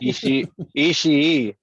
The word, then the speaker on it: Ishii: Yeah, I like how you got to pronounce that second I. Right. Ishii.